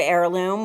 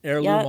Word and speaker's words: heirloom: exact as opposed to the real word heirloom which which yeah has a silent h yeah exactly right a i r l o o m heirloom all one word so